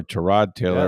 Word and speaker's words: Tyrod Taylor: One other note, Tyrod Taylor or Terrod Taylor as Baker Mayfield says it should be pronounced.